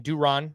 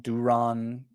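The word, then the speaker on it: Durán: Duffy, Jorge Alcala, Yoan, I believe you pronounce his last name Duran. That's what you said yesterday.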